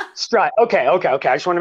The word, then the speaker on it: Strut: How do you say your last name? Strut. Strut.